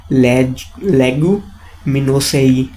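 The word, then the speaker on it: Leguminosae: क्या बोलते हैं इसको भाई, प्रोनाउंसिएशन क्या है इसकी? लेगुमिनोसेई।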